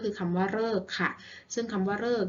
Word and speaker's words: ฤกษ์: ก็ คือ คำ ว่า ฤกษ์ เอง ซึ่ง คำ ว่า ฤกษ์ นะ คะ ตัว หรือ ออก เสียง เริ่ม มา เจอ กับ ตัว สะกด ก ไก่ นะ คะ จะ หาย ว่า ฤกษ์ ค่ะ ต่อ ไป ตัว หรือ